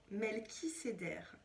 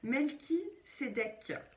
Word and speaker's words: Melchisédek: Melchiséder. Non, Melchi. Ah, en plus c'est mal écrit. Melchisédek.